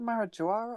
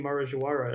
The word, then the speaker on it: Marajoara: but is it the Jawara or Marajoara? It would be probably. I assume it would be Marajoara, as they're in Brazil, and they pronounce the J like je.